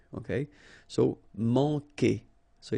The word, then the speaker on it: manquer: Manquer. Okay, remember when we get this Q, after that automatically we get this U, but then we don't pronounce the U, okay? So manquer.